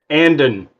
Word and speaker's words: Andon: Andon. Andon, okay. I like Brandon without the BR.